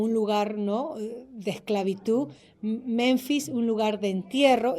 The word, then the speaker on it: Menfis: Este es interesante porque esta capital de Memphis, o este lugar de Memphis, ¿cómo se dice? Menfis, era un lugar de